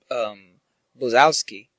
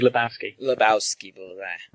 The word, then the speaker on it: Lebowski: Pony Vibe version of the Big Blazowski. Or Bolzowski, I don't know. I always said it wrong. The Big Lebowski.